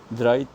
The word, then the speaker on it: Dreizehn: And I told you, whenever Z comes in the middle, whenever it is, Z is not the first word, any other word in a alphabet in a word, it will be pronounced as T, Sa, half T and Sa. So it will be read as, the pure German pronunciation would be Dreizehn, Dreizehn.